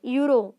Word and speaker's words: euro: letter is a vowel now euro what is the first letter e is the vowel but his pronunciation is what yo yeah that's the euro euro University or University